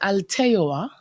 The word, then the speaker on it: Alteoa: It's pronounced Alteoa, and it's actually an original word. It's an acronym, and I put the accent on the E for the pronunciation.